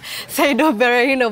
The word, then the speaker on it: Berahino: Maybe I was pronouncing like the English commentators, Saido Berahino, but yeah.